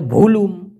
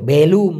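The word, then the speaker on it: belum: অনেকে বলে বুলুম, অনেকে বলে ভুলুম, না ভাই ভুলুম ভালাম কিছু না, এটা হলো বেলুম, বেলুম।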